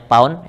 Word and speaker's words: lb: Untuk satuan US gaya itu ditulisnya LB begini tapi dibacanya pound, ini pound ya.